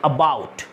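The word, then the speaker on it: about: মিটারটা তো সেই ডায়লগটা অনুযায়ী এই এবাউট ওয়ার্ডটার উচ্চারণ হচ্ছে আবাউট।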